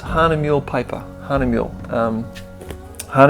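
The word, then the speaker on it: Hahnemühle: and I'm printing that on honey mule there's any pronounced Hannah mule paper honey milk her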